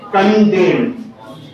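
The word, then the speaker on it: condemn: सीओ एन डीई एम एन क्या पढ़ेंगे इसको कंडम कंडेम मना होता है निंदा सी ओ एल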